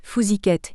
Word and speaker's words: Fousiquets: Sous le nom de Dariga des Fousiquets, prononcé Fousiquette, ils interprètent des sketchs, commentent l'actualité et racontent des histoires drôles.